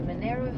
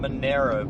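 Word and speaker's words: Monaro: In 400 m, turn left onto Monero Highway B23. Okay. They're saying it Monero, but it's spelled Manaro.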